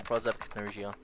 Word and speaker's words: prosopagnosia: There's the pronunciation, prosopagnosia.